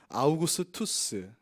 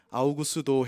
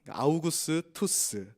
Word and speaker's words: 아우구스투스: 당시 황제의 이름은 아우구스투스. 근데 아우구스도 이렇게 이제 옛날 번역하신 분들이 발음이 안 되니까 아우구스도 했는데, 아우구스도라고 외국인에게 말하면 아무도 못 알아듣습니다. 아우구스투스, 카이사르의 후계자라는 이름에서 카이사르